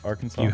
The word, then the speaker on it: Arkansas: Arkansas? That's perfect pronunciation.